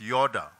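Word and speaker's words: yadah: a wonderful expression and the fifth yada which is pronounced Yoda it means to give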